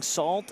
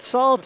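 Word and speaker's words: Sault: So I went through and I said salt, and they didn't correct me.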